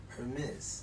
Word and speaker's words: Hermes: So whatever accent they pronounce it with, but because it is a Greek name, I would pronounce my name would be Hermes. Hermes.